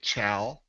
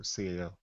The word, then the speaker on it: CAO: That is one of the most mispronounced companies in the industry. You got them cows? We get Cal, we get Chow, we get KO, we get Sao, and that was one that really threw me.